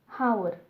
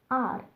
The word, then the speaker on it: hour: For example, a house but an R, because the H at the beginning of the R is silent. We do not say hour, we say R, because H is silent in the word R.